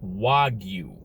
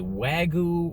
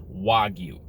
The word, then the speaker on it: Wagyu: i actually look this up and the correct pronunciation of the word is wagyu wagyu burger wagyu meat we're going to talk